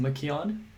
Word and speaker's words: McKeown: read essentialism by greg i think it's pronounced makion um and in one